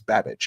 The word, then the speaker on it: Babich: Bobby Babage, right? Or you know, uh I think that's how you say it. It sounds like Bad but it's Babich.